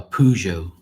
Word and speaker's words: Peugeot: No, a Peugeot, not a Cujo.